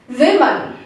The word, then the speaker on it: women: All that matters is you have to pronounce the O in both words differently. The first part, it is woo. Woo. The second part, we have to say it as not woo but we.